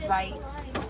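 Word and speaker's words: wit: From the Afrikaans word vite. Vite is spelled W-I-T. It means wide, not white.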